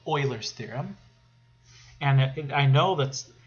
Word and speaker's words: Euler: or germany but but the way you pronounce his name is euler so like oil right euler so it's not euler it's euler okay euler's theorem um says